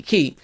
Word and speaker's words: Ki: goddesses of planet Kai, in which he mispronounced, which is actually Ki. Because when you say Anunnaki, you're saying, An, which is heaven, Anunnaki, Ki is earth, right? And you say Enki, you don't say you don't say Enkai or Anunnaki, you say Enki, Anunnaki.